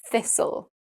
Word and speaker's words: thistle: Well, we've got quite a few that rhyme with Okay. whistle, bristle, gristle, and thistle.